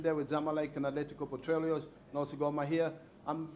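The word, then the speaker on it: Petróleos: But you pronounce Atletico Petroleos? Petroleos.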